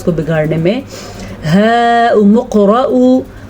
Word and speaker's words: هَاؤُمُ اقْرَءُوا: هَاؤُمُ اقْرَءُوا. اچھا جی هَاؤُمُ اقْرَءُوا اس کو اتنا لمبا کریں گے 5 الف کے برابر.